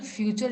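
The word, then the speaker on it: future: for example फ्यूचर अगर पहला word मैं बोल रही हूँ तो इसको आप फचर नहीं पढ़ सकते, you have to give the stress on एफ एंड you both,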